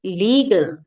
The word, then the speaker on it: legal: देखिए, अब LEG है, तो ना तो इसको लेग से प्रोनाउंसिएशन निकल रहा है, ना इसकी लेज, लेजेंड था या लेगस, राइट, तो लेज नहीं निकल रहा, इसका साउंड निकल रहा है लीगसी, सॉरी लीगल, लीगल।